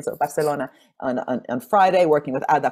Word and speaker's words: Barcelona: I was just in Barcelona, I'm pronouncing it like an Italian, so Barcelona on Friday, working with Ada Colau's team.